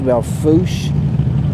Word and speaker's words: Belle Fourche: I'm in the town of Belle Fourche, actually Belfooch is how you pronounce it, but I always say that Fourche.